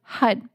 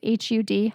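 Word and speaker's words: Har: one is the word hud it's spelled h-a-r but it's pronounced h-u-d hud and that mantra means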